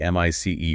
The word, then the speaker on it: MICE: You are talking about the M.I.C.E. framework. That is pronounced mice.